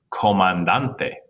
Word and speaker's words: comandante: All right, what about in the word comandante? Done. Comandante is the next to last.